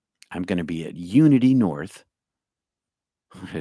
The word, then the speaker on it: Unity: So if you're in Georgia and you're in the Atlanta area, it's the Union North Atlanta Church in Georgia. Unity? Oh my God, I've been saying it wrong. Unity.